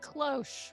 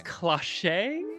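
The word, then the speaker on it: cloche: of roll with it close was the word oh close I was reading that as cliche so I'm glad I didn't try to pronounce it you're not wrong for reading it that way but it is it's close it's just a little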